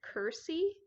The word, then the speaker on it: curtsy: but in the book the proper word is Curt see with the t-midi so pronounces it Kersey um not too sure